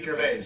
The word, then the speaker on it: Gervais: Says his last name wrong. Ricky Gervais. Gervais. Yes, French type, even though he's English.